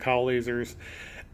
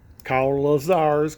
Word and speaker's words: Kyle Lazar: And I love K-Pro and Kyle lasers, Kyle Lazars because it rhymes with Bob Lazar.